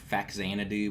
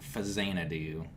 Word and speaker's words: Faxanadu: I used to always say Faxanadu, but I guess it's Fazanadu. That's how it's pronounced, because it's a Famicom and Xanadu combined.